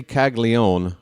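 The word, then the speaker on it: Caglianone: They say Kaggleó, but uh that's not a silent n O in there or a silent a. There's there's another syllable in there and they're just going to ignore it.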